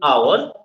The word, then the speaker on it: hour: In this case in hour h o u r the h is silent.